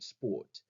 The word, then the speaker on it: Sport: like when you're pronouncing the word sport so that's making a sh sound or the word vile